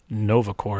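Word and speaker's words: Nova Corps: nova yeah i'm assuming nova core is spelled like the like like it is from the comics yes not c-o-r-e but c-o-r-p-s yes okay corpse yeah like the press corps right because i was also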